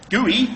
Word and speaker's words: GUI: GUI, G-U-I, Graphical User Interface, pronounced GUI, are the things that